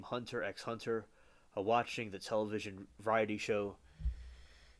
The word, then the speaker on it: Hunter x Hunter: The X in the title is silent, with the previous series Yu Yu Hak Yusho.